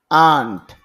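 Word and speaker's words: aunt: আন্ট খালা, পুপু, মামি। এখানে আন্ট বললে হবে না, আন্ট টান দিতে হবে।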